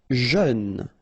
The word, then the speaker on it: jeune: Jeune. Final E not pronounced, but then EU together, jeune.